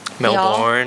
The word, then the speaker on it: Melbourne: You pronounced Melbourne correctly. Melbourne. Y'all.